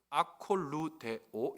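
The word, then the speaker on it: ἀκολουθέω: 그런데 이 단어의 원형은 아콜루데오 이렇게 발음해요.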